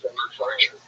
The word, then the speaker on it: Bert Kreischer: This last week, Bert Kreischer's, that's how you say it, Bert Kreischer.